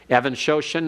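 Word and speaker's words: Even-Shoshan: Evan Shoshan is spelled like even, E-V-E-N hyphen S-H-O-S-H-A-N.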